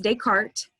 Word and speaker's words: Descartes: invented fifteen hundred sixteen hundred seventeen hundred rene descartes it's probably a name you've heard before it's pronounced descartes he was a french philosopher and mathematician he